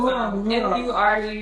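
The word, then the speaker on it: murumuru: So it's Murmur.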